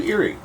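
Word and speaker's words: Eiry: Let's do Eerie. How do you spell that? It's E-I-R-Y. But it's pronounced like something spooky. Eerie.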